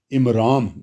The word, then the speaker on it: عمرام: اور موسیٰ علیہ السلام کے جو والد کا نام ہے جی، یہ کتابوں میں عمرام، آخر میں میم آتا ہے، این میم رے الف میم، عمرام بتایا گیا.